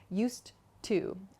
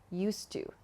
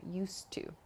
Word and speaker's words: used to: pronunciation here so not used to but native speakers connect the d and the t sound at the end of used and to so it's not used to but used to used to there's just